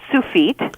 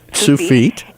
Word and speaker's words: Tsufit: It's pronounced Tsufit. Tsufit.